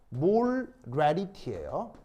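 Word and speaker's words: molarity: 거예요 무슨 말인지 알겠어요 그래서 정확한 발음은 정확한 발음은 몰 래리티에요 그래서 원 몰 레르티는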